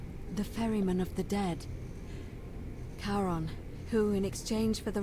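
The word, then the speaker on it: Charon: it's just as you described it only your pronunciation is a little off the name you heard wasn't karen it was c-h-a-r-o-n the ferryman of the dead caron who in exchange for the right coin helps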